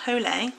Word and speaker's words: Hole: Harry Hole a thriller it looks like Harry Hole to me but I'm pretty sure about my mum read this and said that he pronounced it holy or holy or something like that but this one is